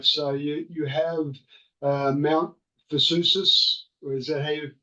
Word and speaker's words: Vesuvius: So you have Mount Vesuvius, or is that how you say it? Mount Vesuvius, the Yes, the volcano.